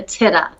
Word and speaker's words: Tida: of the book is taming the titta see okay because we gave it different i'll pronounce it correctly thank you so much for correcting that no all right all right because it looks like taita so there you go